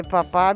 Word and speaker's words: papà: Per far de papà Che bisogna... de papà, dove sta l'accento? Papà.